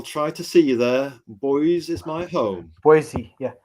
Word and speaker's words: Boise: Boise is my home. Boise, yeah. Boise. Actually, everyone says Boise, but it's actually Boise.